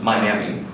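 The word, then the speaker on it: MIAME: This is pronounced Miami.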